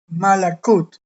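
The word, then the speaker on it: מלכות: Esto se pronuncia eh Malakut.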